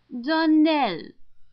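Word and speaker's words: Donnell: would set it right darell Accent on the last syllable and St CLA on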